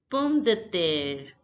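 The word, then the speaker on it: pomme de terre: the Native French speaker potato is pronounced as perm death now listen to the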